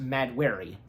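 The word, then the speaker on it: Mahd Wy'ry: earlier, there's a disease that hits Thena called Madwari, if I'm saying that right. Madwari. Okay, yeah, because I'm looking at, but it's pronounced Madwari.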